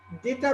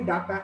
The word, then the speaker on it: data: তো দেখেন, ডেটা বলতে আসলে আমরা বলি ডাটা, আসলে তো উচ্চারণটা হবে ডেটা, কিন্তু আমরা ডাটাই বলি।